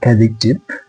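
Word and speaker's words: adjective: আসলে শব্দটা অ্যাডজেক্টিভ না, শব্দটা হচ্ছে অ্যাডজেক্টিভ। অ্যাডজেক্টিভ, তার কারণ হচ্ছে এখানেও শব্দের মাঝে ডি জেই একসাথে আছে, এই জন্য এটা উচ্চারণ হচ্ছে অ্যাডজেক্টিভ।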